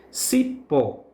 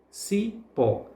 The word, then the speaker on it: cipó: Cipó. Cipó. Pó, portanto, é a sílaba tônica, a sílaba que é pronunciada com mais força, com mais intensidade.